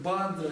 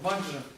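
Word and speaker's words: वज्र: Дело в том, что на тибетский манер очень часто мантры произносятся совершенно не так, как они пишут на санскрите. То есть мы с вами убедились, что то, что мы часто произносим как бадра или бенза, на самом деле это ваджра.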